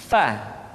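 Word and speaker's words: ف: Berikutnya pengucapan huruf fa. Diucapkan dengan menyentuhkan ujung dua gigi seri kita bagian atas dengan bibir bawah bagian dalam. Fa. Seperti kita mengucapkan huruf F di dalam huruf Latin.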